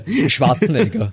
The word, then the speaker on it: Schwarzenegger: I mean, you've said it twice already, but I want you to Schwarzenegger. What's Schwarzenegger? Schwarzenegger would be Arnold Schwarzenegger. Okay, cool. There you go. That's the official Austrian pronunciation of Arnold Schwarzenegger.